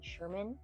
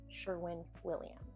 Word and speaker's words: Sherwin-Williams: I butchered that before and said Sherman, and y'all came for me, so I apologize. It is Sherwin-Williams.